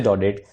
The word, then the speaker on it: Daudet: जी हाँ, ये जो टी है ये साइलेंट है और ये है अल्फोंसे डॉडेट। अल्फोंसे डॉडेट जिनका जन्म हुआ था 1840 में, 1897 में इनकी डेथ हुई।